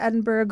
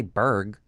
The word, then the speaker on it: Edinburgh: He went to the Edinburgh Fringe Festival. Is that how you say it? You don't say Berg. Edinburgh.